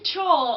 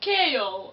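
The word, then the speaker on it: Chaol: and just called him joel i know it's weird so after i read how his name was actually pronounced and i was like oh it's kale oh okay i think i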